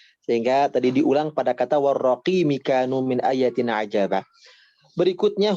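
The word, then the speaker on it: والرقيم: Oke, warraqimi, mi-nya dibaca pendek ya, tadi dibacanya panjang.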